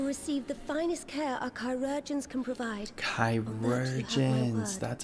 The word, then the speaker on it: chirurgeons: Rest assured, he will receive the finest care our chirurgeons can provide. Chirurgeons, that's how it's pronounced.